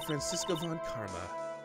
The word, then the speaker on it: Francisco von Karma: I am Francisco Von Karma, the protege.